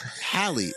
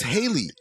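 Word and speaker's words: Halley: comment and I'm like why are you pronouncing it hiy it's Haley right it's Haley's comment not Hal right like B then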